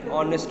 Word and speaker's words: honest: and another is uh if any word um begin with the silent h okay silent h silent h also uh and and okay an hour and honest man these are all and n an honorable person okay so these are